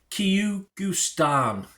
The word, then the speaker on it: Kyrgyzstan: to pronounce it, because I certainly struggled to spell it. Kyrgyzstan.